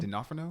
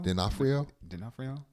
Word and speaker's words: D'Onofrio: D'Onofrio. D'Onofrio.